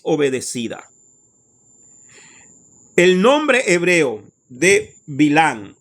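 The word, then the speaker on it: בלעם: El nombre hebreo de Bilán o Balaán en hebreo es Bilán. En hebreo es Bilán, ¿ok? En la traducción al español pusieron Balaán, pero su nombre original es Bilán, ¿ok?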